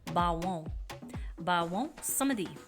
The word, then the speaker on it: Baron Samedi: First of all, it is French and in the French pronunciation it is Bawon. Bawon Samedi.